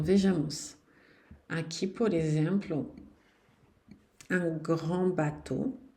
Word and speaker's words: grand: O D não se pronuncia também, não. Um grande barco quando vocês quiserem. Beleza. Na frente de uma vogal, vou ter que fazer a liaison. E esse D vai ter um som de T de tatu.